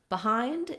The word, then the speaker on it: behind: So behind is a similar, many other words that start with BE that are unstressed on the first syllable do the same thing.